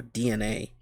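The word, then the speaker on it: DeNA: not Nintendo's I think is it Deena or DNA I think it's pronounced DNA it's like DNA and I think the the e is silent I don't know but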